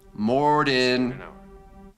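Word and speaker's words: Morden: Mortyn rhymes with Gordon.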